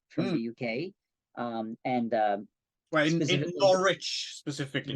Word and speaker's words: Norwich: the UK, and in Norwich specifically. Norwich. Yeah. As the Americans pronounce it, Norwich.